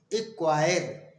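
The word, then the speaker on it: acquire: सी letter silent होता है, अर्थात सी का उच्चारण नहीं किया जाता है। एग्जाम्पल में समझते हैं, जैसे ACQURE, एक्वायर।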